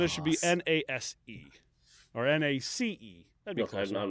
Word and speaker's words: Naas: It's Nace. Nace? Like the way you say mace, but with an N, yeah. Well, then it should be Nase. Or Nace.